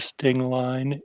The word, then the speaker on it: Stingline: It rhymes with clothesline. That's what he said. I sort of beg to differ. That's not how I would rhyme Stingline. I think you needed the ENG sound, not just the line sound.